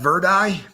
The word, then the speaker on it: Verdi: eye yeah they uh they actually pronounce that Verdi and uh so that's